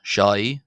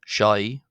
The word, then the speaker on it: ϣⲁⲓ: Uh and this letter is called shy. Shai with a shh and i sound.